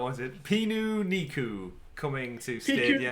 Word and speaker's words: Pikuniku: Pikuniku roaming to Stadia. Pikuniku. It's the Japanese word for picnic. Is it? Well, it's the Romanized version.